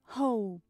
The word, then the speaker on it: hope: I hope Hope Hope Hope não pronuncie a letra e Hope Hope Hope a diferença